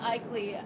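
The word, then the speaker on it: Aichele: say your name again my name is Cheryl eeley uh my last name is spelled a i c h e l e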